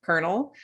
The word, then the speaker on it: colonel: thought you used was the word Colonel c-o-l-o-n-e-l which for reasons that you know defy most English speakers is pronounced kernel um but maybe you